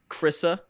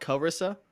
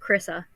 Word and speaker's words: Carissa: Chrissa, I think 2 syllables, not Carissa. I think it's just Chrissa.